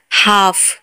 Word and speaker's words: half: हाफ, HALF, हाफ, हाफ में भी एफ के आगे एल है तो एल साइलेंट होगा।